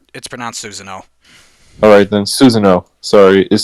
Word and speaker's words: Susanoo: It's pronounced Susanoo.